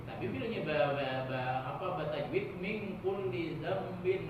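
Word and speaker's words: ذنب: Tapi bilangnya batajwid min kulli dzambin azim, zambin. Jangan zamin. Jambin. Zambin. Jambin. Kayak Nah, biar anak-anak cari tulisannya di internet, ke tulis ada aja itu tuh. Google pintar aja, astagfirullahaladzim min kulli dzambin azim la yaghfiru dzunuba illa rabbul alamin.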